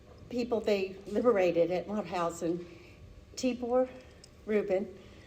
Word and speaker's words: Tibor: they liberated at Mauthausen, Tibor Rubin. Rosalie taught me how to say it. I was saying Tabor, and she gave me a lesson.